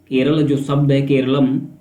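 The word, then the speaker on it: കേരളം: तो यही है कि केरलम जो है मूल मलयालम उच्चारण है, तो इससे जो मलयालम लोग हैं उनकी जो विविधता है, संस्कृति है, उसको रिप्रेजेंट करता है।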